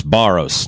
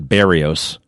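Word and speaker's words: Berrios: The name is Baros, not Barios. It's just a little thing. And, oh, oh, by the way, Barios, Baros, he's chewing gum.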